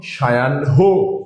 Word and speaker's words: সায়াহ্ন: এই দন্ত স যেহেতু আমরা তালব্য স্বর মতো উচ্চারণ করেছি, এর জন্য উচ্চারণে তালব্য স্বর হয়েছে।